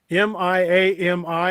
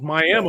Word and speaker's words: Miami: will definitely correct you well there's no e on the end of it either but there's no uh on the end of that it's miami florida but it's miami oklahoma miami i you know what